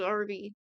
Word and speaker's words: Arby: Apparently, the Arby raisin boy is called Arby. It's like R and B.